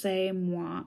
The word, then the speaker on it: c'est moi: And it says, et c'est moi, pronounced c'est moi.